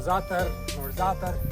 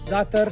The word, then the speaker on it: za'atar: More za'atar. Say za'atar. Now, za'atar, you could say za'atar. Z-A. But there's a letter in Arabic called za'atar. It's hard to pronounce.